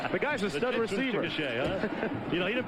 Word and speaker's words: Chickasha: That's how you say it. Chickasha.